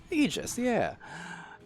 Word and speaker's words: Aegis: We have Beholders facing off against Aegis, and for my own reference, I finally looked up officially how to pronounce that. I got it, Aegis, yeah.